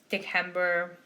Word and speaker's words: December: i've been saying that that's because cs in latin are pronounced k's like case so kaiser dick hember and then vs if